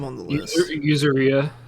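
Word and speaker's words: Yuzuriha: And so, what is the first action that Yuzuria?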